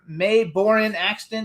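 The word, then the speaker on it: Mae Boren Axton: So you guys also has a famous grandmother May Borin Axton. Did I pronounce it right?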